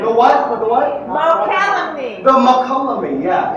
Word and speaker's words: Mokelumne: Mokelumne. The what? The what? Mokelumne. The Mokelumne, yeah. It's a little hard to pronounce.